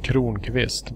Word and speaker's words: Kronqvist: Are we talking about Messiah's Kronkfist? Yep. And it's pronounced Kronqvist, by the way.